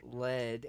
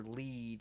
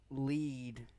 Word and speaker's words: Bubble Lead: could be pronounced either lead as in the metal or lead as in guiding someone the correct pronunciation here